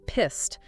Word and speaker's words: pissed: And here the pronunciation of the past simple verb pissed is worth paying attention to. Yes, pissed ends with Eid, the typical past simple ending.